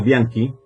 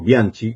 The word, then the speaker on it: Bianchi: Pero hay un libro interesante eh de Enzo Bianqui o Bianchi, como se quiera leer y pronunciar.